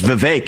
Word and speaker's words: Vivek: I say my name's Vivek. It rhymes with cake.